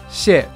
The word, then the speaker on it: Xie: Xie is fourth tone. Mm-hmm. is the first tone. Okay, Xie.